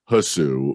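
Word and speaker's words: Hsu: once and Stephanie Sue I believe it's pronounced Sue I don't know if it's hussu but it's Sue from everything everywhere all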